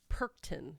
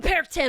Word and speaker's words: Perchten: of the it's called Perchten. Perchten. But when I looked up how they say it in German, it's like Perchten.